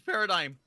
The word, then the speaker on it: paradigm: Is the G silent? It's silent. It's paradigm.